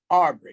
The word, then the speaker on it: Arbery: your last name right is it all buried or aubry aubry it's aubrey it's aubry okay the first question